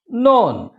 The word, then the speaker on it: known: listen known known known don't say known k is silent there known unknown okay yes continue